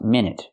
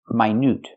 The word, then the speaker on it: minute: minute is 60 seconds the word is talking about is pronounced my my with a long I like high and like my n with the oo sound like Boot and shoe n my can mean very